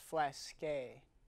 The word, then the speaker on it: Flask: Well, it's pronounced flasque. It's French. Flasque.